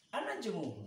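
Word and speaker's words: النجم: Jadi kalau ada nun, ro, kata alif lam itu, maka lamnya nggak kebaca. Ada langsung tasdid. Langsung tasdid.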